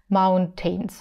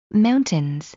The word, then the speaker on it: mountains: другими Просто педагогами почему-то у них произносится звук T mountains Это неправильно mountains мы произносим mountains mountains То есть если вы